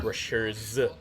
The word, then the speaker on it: Rushers: Every time I say Rushers, I feel like I'm saying Russia, but it's not spelled like that, so I don't know how to cope with this. No, I killed one on bottom. Just have to emphasize the Z there. Rushers.